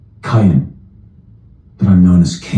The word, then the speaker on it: Cain: Bible if that means anything what no who's pronounced cayen but I'm known as Cain